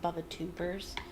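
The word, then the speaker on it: Bubotuber: Bubba-tubbers. It might actually be pronounced bubba-tubers, but that's how I pronounced it as a kid, so that's how I pronounce it.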